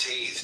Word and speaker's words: Teth: Secret of all spiritual activities, the name of the path of wisdom, corresponding to Teth, pronounced Taith, transcribed as T, the number 9, meaning serpent.